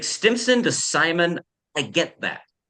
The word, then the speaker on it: Stimson: If it makes you feel better, the sheer number of ways I have heard my name mispronounced over my lifetime, Simon is relatively minor. The one that confuses me most is Vincent.